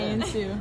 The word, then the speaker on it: Insu: How do you pronounce that? Hi, Insu. Hi Insu. That's how you pronounce it.